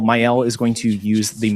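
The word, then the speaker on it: Maëlle: We're going to use Myel. Myel is going to use the movement. Probably has a more French pronounce pronunciation.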